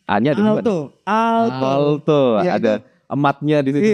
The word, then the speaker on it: Aalto: Terbang ke Finlandia ke Aalto, gimana sih cara bacanya? A-nya ada dua. Aalto.